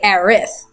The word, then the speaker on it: Aerith: If her name was actually meant to be Eris and not Aerith, the Japanese would have pronounced her name Arisu. But they don't pronounce that name in Japan. They say Aerith.